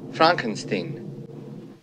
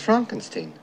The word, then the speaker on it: Frankenstein: Dr Frankenstein Frankenstein you're putting me on no it's pronounced Frankenstein do you also say froedrick no Frederick oh